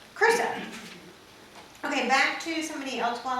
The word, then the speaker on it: Chrysa: Chrysa. Chrysa.